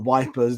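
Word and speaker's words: Ypres: a road out of EP for example or wipers depending on your pronunciation you know there'll Crossroads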